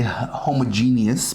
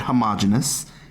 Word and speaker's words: homogeneous: Some people say homogeneous. Personally, I've always said homogeneous. It really doesn't matter. It's just a difference in pronunciation.